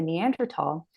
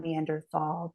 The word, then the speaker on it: Neanderthal: another footnote neander not Neanderthal because in Germany which is where the first neander tal was ever discovered Germans don't pronounce the th sound they pronounce it t so neander Valley neander